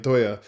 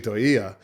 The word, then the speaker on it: Toia: I've been saying Toya. It's actually Toia.